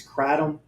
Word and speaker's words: kratom: the um the the I'm probably going to mispronounce it is it is it's kratom oh Kratom great you know Kratom uh here